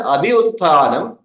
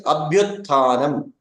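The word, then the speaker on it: अभ्युत्थानम्: If I had said this as abhiuttanam, it will not become a samhita. It will not be close enough to say abhi utthanam. If I were to pronounce both of them separately, it will become difficult. That is where it becomes abhyutthanam.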